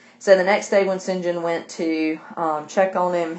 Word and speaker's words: St. John: the next day when Sinjin and i know it looks like st. john but it's pronounced Sinjin so the next thing when Sinjin went to check on